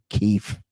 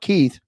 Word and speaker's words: Keefe: There's a great show on right now on HBO, The Righteous Gemstones, and there's a guy there named Keefe, not Keith, Keefe, Kief.